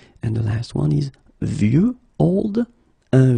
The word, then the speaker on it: vieux: And the last one is vieux, old. Un vieux arbre. Okay, of course you've got this X at the end, but you don't pronounce it. Okay, so it's vieux arbre.